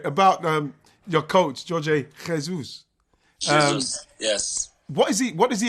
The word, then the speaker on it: Jorge Jesus: Jorge Jesus.